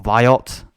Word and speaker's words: VAIOT: technology behind buy it so via or viot as you should pronounce it is an intelligent Services